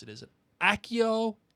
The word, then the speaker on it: Accio: pronounce it is it accio acio accio or as a co because it'd be like cappucci it'd be like cappuccino like because the double c's but in the film it's accio i know which would